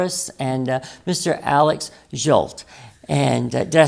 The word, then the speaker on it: Zsolt: Alex Jolt and did I say did I get the name right because I'm always getting it wrong.